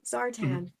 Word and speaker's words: Zartan: Zartan, right? Yes, Zartan. All I can It's think like of- Barton with a Z, except that was too hard to pronounce, apparently.